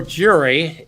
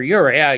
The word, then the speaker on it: Uri: Ride for Jury. Yep. I should say Ride for Uri. Uri. Yes. Get it pronounced correctly.